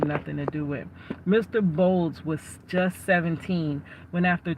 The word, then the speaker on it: Boles: BS. Okay. Did they spell his name wrong? Cuz now they said Mr. BS. Okay. Yes, it is Brian Bold.